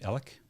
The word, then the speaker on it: Alex: circumstantial on this um Alec pronounced his name Alec yeah Murdoch Murdoch yep um all right if